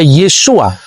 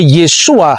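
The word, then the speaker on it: Yeshua: Sehingga ketika orang membaca ee nama Yesus, ketika dia orang Yahudi, dia pasti membaca Yesua. Yang percaya bahwa Yesus itu Mesias pasti membacanya Yesua Hamasiah.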